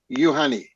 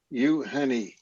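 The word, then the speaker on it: Євгеній: Yes, but actually it's on Ukrainian, it's like U Yevgeny start with Y.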